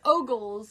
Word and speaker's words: Ogles: say oo or something ooly ooly booly it's ogles Mr this man Mr ogles calls on President yeah yeah whatever Mr ogles okay hold on okay so what was I